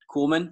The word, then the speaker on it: Kuhlman: So episode 2, The Ringer, we've got Karson Kuhlman is it Kuhlman or Kuhlman? Kuhlman? Nope, you got it. Yeah, you nailed it first time.